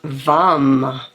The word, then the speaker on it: vam: So as you breathe in and out, the medium toned, one syllable Sanskrit mantra is vam.